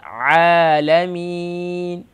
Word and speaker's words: عالمين: عين pronounced the middle of throat. عالمين.